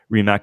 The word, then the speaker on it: Rimac: Rimac.